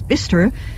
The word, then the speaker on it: Bicester: Bicester Village, the name pronounced with the hearty local twang as Bicester, is a designer shopping outlet of international renown.